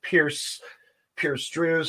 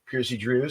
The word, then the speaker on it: Percy Drews: guest at this time, Pierce Drews. How are you? Percy Drews, how are you? Oh, you said my name wrong. It's Percy Drews. Percy Drews. All right. Yeah. All yeah, right. Sorry. Gotta get that hot in there before you say Percy Drews. Right.